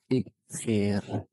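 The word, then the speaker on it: اغفر: Ighfir. Tapi ketika dia dibaca wasol, maka alifnya tidak dibaca. Allahumma ighfir.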